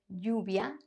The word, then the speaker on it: lluvia: In most Spanish-speaking countries, the double L is pronounced as the Y in the word yes. Yes, lluvia, allí, but also depends on where Spanish is spoken.